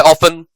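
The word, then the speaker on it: often: ठीक है, टी, कहां कहां टी साइलेंट है, ऑफन, डेब्यू, डिपो, बसल, है ना, हसल, ठीक है, हैसन, तो ये जो है इसमें जो है वो टी साइलेंट है।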